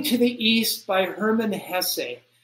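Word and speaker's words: Hesse: do you say it Hess is that how you say his name yeah that's how the German say it but it looks like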